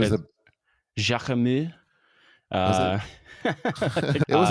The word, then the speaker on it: Jacquemus: Jacquemus. Philip doesn't know how to pronounce that word. It's never I said it think out that loud before. there's no S.